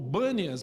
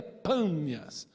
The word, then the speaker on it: Pânias: Como os árabes chegaram depois, não pronunciam o B, o P, o som de B, esse lugar hoje é conhecido como Bânias, mas na verdade é Pânias, para o Deus maior.